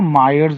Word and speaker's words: Mayer: Mayer की spelling MAYER. Mayer's relation, इसको मायर्स भी बोलते हैं कुछ लोग, बट ठीक है.